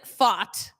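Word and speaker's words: Pfaadt: got the all right Brandon fought that is how you say his name is on the mound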